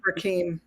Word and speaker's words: Rakim: So it's not my event, but we have Rakim, or it might be Rakim. I always screw the pronunciation of his name. Rakim. It's I got bet it's Rakeem. Okay, there you go.